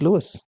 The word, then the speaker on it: Louis: but he himself used Lewis and if anybody ever pointed out that since it's originally a French name it should be pronounced Louie he would always reply